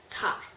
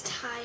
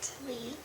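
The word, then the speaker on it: taille: It's a French word pronounced like tie. I'm sorry, guys, I was pronouncing it wrong. It's tie, not tally.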